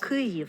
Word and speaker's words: Kyiv: So this one is further back in the mouth, Kyiv.